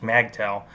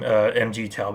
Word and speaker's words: MGTOW: By the way, that's the pronunciation she uses, MAGTOW. That's kind of silly. But then again, who am I to judge? I called them MGTOW before.